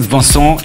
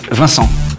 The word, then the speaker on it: Vincent: No, it's not Vincent, it's Vincent.